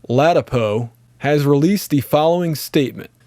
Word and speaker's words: Ladapo: Joseph, I believe his name's pronounced Ladapo, has released the following statement.